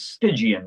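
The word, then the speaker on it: Stygian: And then the word stigian, s t y g i a n. As far as I know, I think it was. Yeah, the correct pronunciation is stigian, meaning related to the river sticks.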